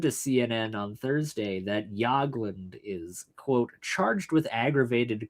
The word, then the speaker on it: Jagland: Yeah, it's pronounced Yagland. Jagland.